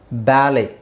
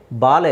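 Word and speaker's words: ballet: okay now ಲೆಟ್ಸ್ ಸಿ ಬ್ಯಾಲೆ ಇಲ್ಲಿ ಟಿ is silent T ನ silent ಮಾಡಬೇಕು ಬ್ಯಾಲೆ ಬಾಲೆ ಅಲ್ಲ ಬ್ಯಾಲೆ ಬ್ಯಾಲೆ ಬ್ಯಾಲೆ ಹಾಗೆ ರಾಪೋ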